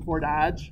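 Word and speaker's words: Fort Dodge: ever heard somebody from for Dodge I have a very good friend from Port Dodge Cheryl Heckman oh really yeah and they never pronounced the T and her father B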